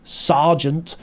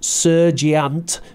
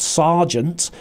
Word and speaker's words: sergeant: lance corporal corporal sergeant noticed the pronunciation there sergeant not sergiant but sergeant a lot of these